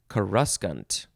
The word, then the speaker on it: coruscant: glittering oh coruscant and either he mispronounced it or he said i'm going to pronounce it differently but i'm going to spell it exactly the same so coruscant is the name of the city but the real world the real word is karuskant something like that okay i